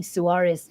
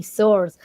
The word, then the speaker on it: Suarez: think was good because my name is pronounced as suarez and he said soars and he said you